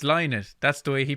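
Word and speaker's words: Lynott: you know yeah actually you pronounce his name right but everyone in ireland pronounces it wrong including me i always call him phil lynette but it's not it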